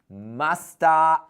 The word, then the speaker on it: must have: Listen to the pronunciation. Guys, I, you, we, they, he, she, it, musta, eaten. Musta. Musta. Eaten.